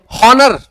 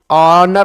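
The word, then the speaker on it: honour: हॉनर ऑनर होता है। क्या होता है? ऑनर ओ तो ओ के हिसाब से एन। इसीलिए लिखवा रहा था। अगर एच साइलेंट है तो एन।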